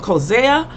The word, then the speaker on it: Coetzee: J.M. Kozea, however you want to say his name, after I done pronounced it Coetzee for almost, I don't know how many years, y'all need to get together and talk.